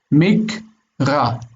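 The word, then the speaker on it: מִקְרָא: And the aleph here has no value. Mikra. Mikra. So would you call the last syllable an open syllable? It kind of is, because the aleph is called quiescent. It's as if the aleph isn't there.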